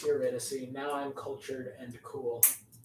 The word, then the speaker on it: Eurydice: Orpheus wants Eurydice to Eurydice. But it's Eurydice.